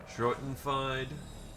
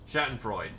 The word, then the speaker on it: Schadenfreude: Schrotenfied? You know what I'm going for here. Schadenfreude.